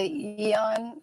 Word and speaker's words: Aeon: guess with the nirvana yeah and that's the eon um it's spelled like a e is i have a